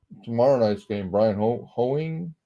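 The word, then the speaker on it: Hoeing: night's game Brian ho hoing I guess is how you say his name that it's another sea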